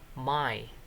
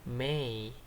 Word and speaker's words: may: Sharif minta kamu baca tulisan ini, beberapa di antara kalian, some of you, bacanya itu my. Anyway, ini bacanya bukan my, tapi may. May, bukan my ya.